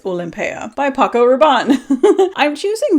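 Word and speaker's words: Olympéa: how you say it there's a lot of people that call it Olympia pretty sure with the accent on here it's olympea by Paco Rabon I'm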